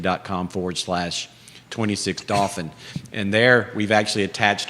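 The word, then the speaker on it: Dauphin: i'll give you the address again it's 26 dolphin drive it's not a real address you can't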